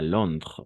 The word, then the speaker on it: Londres: Hasta Londres, hasta la R solo. O sea, en general las últimas palabras, las últimas letras en francés no se pronuncian.